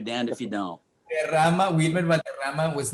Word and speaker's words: Valderrama: If you would have pronounced it Valderrama, like gravitas, they'd be like, whoa.